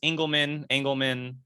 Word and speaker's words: Engelman: Yeah, it's Engelman, whatever you wanna.